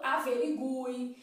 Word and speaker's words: averigue: é a forma ortográfica esse acento foi abolido a pronúncia se Manteve né então a gente fala averigui a paz e guia então a gente fala assim mas né existem aí autores bons que já respaldam a pronúncia dessas palavras de outra maneira averíngue né vamos dizer